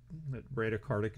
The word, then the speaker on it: bradycardic: to the heart rate so breda karthik or brady karthik bradycardic is how you pronounce it that would be a